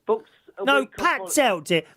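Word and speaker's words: Patzalt: Paxell books. No, Pat Zelt, dear. Pat Zelt. Say it properly. Spell it. Spell it. Spell it. P-A-T-Z-A-L-T. Pat Zelt.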